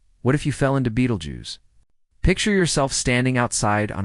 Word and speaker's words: Betelgeuse: Beetlejuice pronounced Beetlejuice ranks among the largest naked eye visible stars.